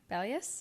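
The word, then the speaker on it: Bellius: into Em's store and sees her with bellus bellus is how you say it which is um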